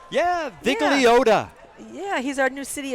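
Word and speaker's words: Vigliotta: Now we have City Attorney Mike Vigliola. Is that I pronounce it right? Yeah, Vigliota.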